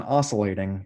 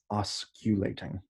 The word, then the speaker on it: osculating: about the osculating plane so it's not even oscillating it's osculating okay and that's the